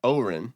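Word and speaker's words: Odhrán: Because it's spelled like Odran, but it's Oren.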